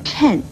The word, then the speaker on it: 谶: 的预言，而谶字的国语注音呢是吃摁谶，四声谶，所以谶语也不要念成了或颤语，请您要多注意。